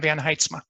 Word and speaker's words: Van Heetsma: And thank you for your service, Marianne Van Heetsma, excuse me. I pronounced your name in my head the first time, and I cannot get it out to get the correct pronunciation. Marianne Van Heetsma.